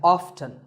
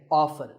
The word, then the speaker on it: often: but it's okay too next up is often some pronounce this as often now strictly speaking often is not wrong but the more common pronunciation is with the T silent so I recommend that you always say often one word that's often